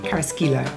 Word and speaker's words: Carrasquillo: Carrasquillo.